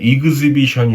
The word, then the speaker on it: exhibition: 이거는 전시회란 뜻인데 exhibition이 아니고 exhibition이에요.